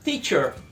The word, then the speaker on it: teacher: Teacher, muito aluno pronuncia errado, diz teacher, com esse som de tchau no início não tá certo. O brasileiro tem essa mania porque algumas palavras em português a gente pronuncia assim, tipo tijolo, tigre, mas pratica essas palavras em português dizendo mais na ponta da língua, pronuncia aí tijolo,